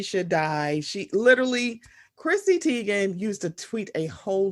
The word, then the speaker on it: Teigen: So Miss Chrissy, her pronunciation of her last name is actually Teigen, but she just be answering the Teigen because she ain't got time to be correcting y'all.